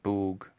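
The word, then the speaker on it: Bóg: say it right now polish you would say boog other slavic languages you say bog yeah like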